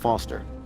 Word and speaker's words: Foster: pickle so does not foster I'll remember that easy because your name rhymes with fossil and you're old thanks kid